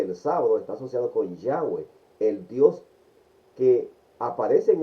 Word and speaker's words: Yahweh: el concepto protestante, pero el término que se, que se ha encontrado que es el más adecuado en la pronunciación de lo que se conoce es Yahweh. Y no vamos a entrar